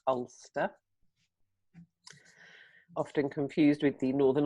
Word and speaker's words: Alcester: So I'm in a town called, it's spelt Alcester, Alcester, but locally pronounced Ulster.